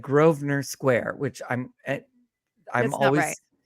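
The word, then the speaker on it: Grosvenor: always no that's right I'm always confused it spell it looks like it's gonna be gross venor gross venor is the way it looks SP but like I'm always like how do you pronounce that so I was really grateful that she just pronounced it for us groer yeah thank you so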